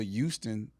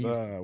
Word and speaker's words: Houston: University of Houston. How do you spell it? You know how to spell Houston. I'm just saying. But you just missing the H every time you say it.